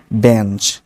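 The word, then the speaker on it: bench: বেঞ্চ, বেঞ্চ এই কথাগুলো একটু খেয়াল রাখবেন, বিচ, বেঞ্চ, ব্রাঞ্চ এভাবে বলবেন না, সাউন্ডটা হচ্ছে বেচ, বেঞ্চ, ব্রাঞ্চ, ক্যাচ, মানে স উচ্চারণ করে এটা শেষ করবেন না, এটা সাউন্ড হচ্ছে চো, যেরকম একটু আগে আমি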